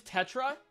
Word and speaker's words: Tetra: right crow it's petra oh it's her name's tetra okay hey we wanna we do we wanna